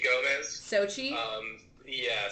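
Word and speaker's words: Xochitl: um like used one Sochi Gomez Sochi um yeah so they don't pronounce the L part though probably it goes sochido but everyone just calls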